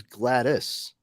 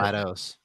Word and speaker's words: GLaDOS: I always thought it was Gladys. No, like pronounced Gladys. No, oh no shit. GLaDOS.